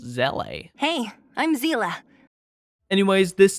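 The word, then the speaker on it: Seele: Onto our number 1 spot, you guys already know, and it is Seela Hyper Carry. Actually, her name is pronounced Zele.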